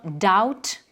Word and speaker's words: doubt: Le B dans les mots tels que doute et dette, on va dire doubt, debt.